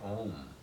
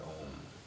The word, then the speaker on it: om: in India saying that when you pronounce the word om it is not an OM like that but you have to have that sense of drone it's never truly an M it's oh M never really sounds but that fourth